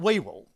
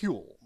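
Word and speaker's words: Whewell: advice was none other than this man William it's spelled way well but it's pronounced huel it it it is a an Old English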